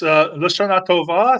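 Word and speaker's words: לשנה טובה: And our friend Pharaoh Cheryl says, how do you pronounce that? It's Lashana Tova.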